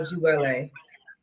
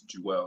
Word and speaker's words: Jewale: First, explain to the audience in specific detail the message and vision behind the music of Jewale. Well, first I would like to correct you. It's Jewel. It's pronounced Jewel.